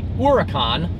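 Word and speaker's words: Huracán: now the latest v10 supercar is called the hora con which means hurricane in spanish the oricon is unfortunately going to be a very hard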